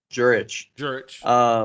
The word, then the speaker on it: Jurich: Tom Jurich? Jurich. That's what I've heard it pronounced.